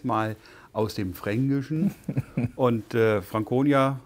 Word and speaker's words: Frankonia: aus dem fränkischen und frankonia hat ja einen harten konsonanten aber das wird hier ein bisschen weicher ausgesprochen muss man sagen werden